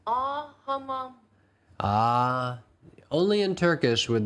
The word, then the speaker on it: Ağa: When there's a G with a little hat over it, it just means elongate the vowel. You don't actually pronounce the G.